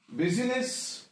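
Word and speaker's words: business: इज E silent in बिजनेस the silent is I that is बिजनेस I silent है in evening word again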